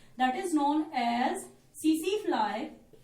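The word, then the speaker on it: tsetse: That is known as सीसी फ्लाई। TSE T silent रहेगा, सीसी फ्लाई हम इसको बोलेंगे, और इसका साइंटिफिक नेम है ग्लोसिना पैल्पैलिस।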